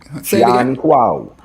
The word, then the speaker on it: Jan Kwaw: Is it Jan Kwaw? Jan Kwaw. So Gyan. That's where the John comes from, understandably. and Kwaw. This is the official Nzima and Ahunta dialect of how they say his name.